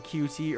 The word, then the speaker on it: Qt: So you heard me mention Qt earlier, so what exactly is that? RPCS3 has moved to QT. It's technically pronounced cute, but I refuse to do that.